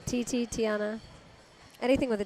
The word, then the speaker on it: Tiana: Tiana.